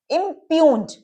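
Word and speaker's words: impugned: ये जी तो साइलेंट है हमारा, इसे हमें रिप्रेजेंट करने की जरूरत नहीं है, तो हम इस एमपी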